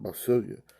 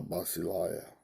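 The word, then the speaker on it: βασιλεία: the right that's basilia we used to pronounce that by Sylvia the Blue Letter Bible is pronouncing it uh basilia okay and that's they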